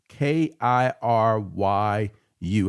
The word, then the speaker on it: Kiryu: It's K I R Y U. How do you pronounce that, Apollo?